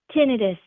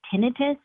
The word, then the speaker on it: tinnitus: to pronounce it but in the medical community we like to say tinitus because the pronunciation itis assumes that that's the disease and tinitus is really the symptom of something else and so when you